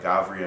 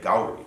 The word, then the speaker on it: Gauri: 12 years or whatever, to me the villagers, the performers themselves, all the locals say Gauri. It's the Gauri dance. But you go up a little higher in the more middle class people will say Gavri.